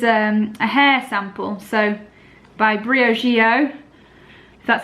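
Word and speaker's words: Briogeo: but this is a hair sample so by Brio Gio that's how you say it pronounce it and it's a deep conditioning mask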